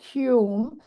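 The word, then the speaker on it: Hulme: climatologist uh my Hume even though it's spelled kind of funny but it's pronounced Hume so Mike Hume um made a very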